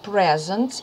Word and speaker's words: present: Якщо тут було слово presents і наголос я ставила на і, ось на перший склад, то тут наголос іде to present, на другу буковку і, тому що це дієслово.